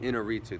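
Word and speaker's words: Iñárritu: Inarritu, that's how you say it.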